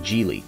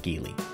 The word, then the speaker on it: Geely: chinese manufacturer gili yes it's pronounced jeely not gili jili has been making